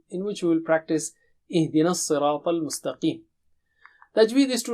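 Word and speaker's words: اهدنا: Ihdina. Don't say idina. Okay, again Hamza should be very clear and har sound also should be very clear.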